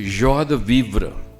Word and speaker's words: joie de vivre: It's a joie de vivre. Joie de vivre. This, of course, French pronunciation.